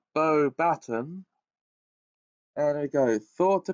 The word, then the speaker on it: Beauxbatons: Okay, it's pronounced Beauxbatons.